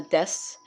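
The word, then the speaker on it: です: you would know that the this the you is sort of silent in a way so i'm sorry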